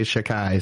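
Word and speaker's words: Xhekaj: um up so Arbor chakai looks like Chicago but I've heard all the announcers pronounce his name and they all say shakai so I guess that's how you pronounce it um up and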